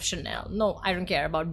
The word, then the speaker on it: Chanel: correct but I like I will forgive you if you said channel instead of Chanel no I don't care